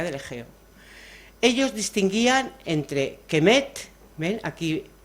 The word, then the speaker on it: kemet: ejeo ellos distinguían entre kemet Ven aquí la k la m la t eso no hay quien lo pronuncie Entonces se introduce la e por convenio kemet entonces kemet significa tierra